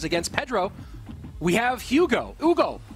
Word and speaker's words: Hugo: Pedro we have Hugo Hugo to give the proper friends French pronunciation and this is a